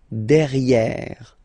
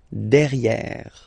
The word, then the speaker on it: derrière: Derrière. Same thing here. You've got this E accent grave. E. Derrière.